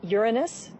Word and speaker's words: Uranus: pronounced the planets name Uranus which is very likely closer to the original pronunciation of the name of the God after it was named